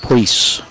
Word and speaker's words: Pries: The Priest girls spell their name P-R-I-E-S, pronounced Priest.